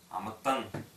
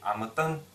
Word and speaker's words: амытан: Произносить их следует, как будто их две. Например, Амытан. Не Амытан, а Амытан. Именно как две, как сдвоенное Т.